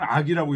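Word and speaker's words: 樂: 악지 즐겁게 한다는 거죠 요새 여기 앞에는 락이에요 락 즐겁게 하면 동사입니다이 뒤에는 악으로 읽어요 락지악 이렇게 읽어야 돼요 뒤에는 음악이라고 할 때는 악이라고 읽고요 즐겁다 할 때는 락이라고 있습니다 음악으로 즐겁게 해주고 이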